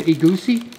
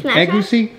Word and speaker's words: egusi: Egusi? Egusi. Egusi?